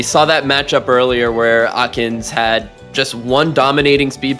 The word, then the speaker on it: aknzx: should be good against Akins, which I've just found out that's how you pronounce that, thank you.